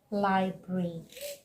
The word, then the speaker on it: library: Okay, but the correct pronunciation is library. Library and not library, making it 3 syllable. No, it is a 2 syllable word, so you go library.